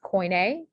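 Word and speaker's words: koine: then for the e this word is pronounced coin a um and so this e is is making the a sound and usually for words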